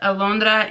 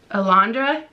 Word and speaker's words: Alondra: funny is alondra nope how do you say it in english alondra alondra is actually my sister's middle name i can't that just feels weird alondra i can't not say it with a spanish accent anyways so we're